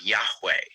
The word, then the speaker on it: Yahweh: God's name in Hebrew in the Old Testament is the word Yahweh, Yavhe Vavhe, and that's how scholars approximate its pronunciation.